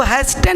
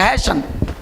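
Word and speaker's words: hasten: भी अंतिम में हो तो उस टी का उच्चारण तो ओरिजिनल होता ही नहीं। जैसे हैसन, तो इसको हैस्टन नहीं पढ़ेंगे, हैशन।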